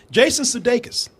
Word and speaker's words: Jason Sudeikis: Jason Sudeikis. That's how you say his name, right? Yeah.